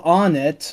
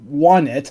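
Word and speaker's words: Onett: It's want. Onnet. Oh, It's really? What? Wow. The theming is want, Tucson, Threed, Fourside. So it's want.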